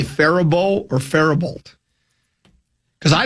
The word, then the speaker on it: Faribault: just assumed it was Faribault cuz that's the way it's spelled, but it is Yeah, there is no LT sound there. It's supposed to be Faribault. Faribault.